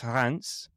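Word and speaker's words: Reims: Uh well, okay, it's pronounced it's pronounced Hans, but it's spelled rims.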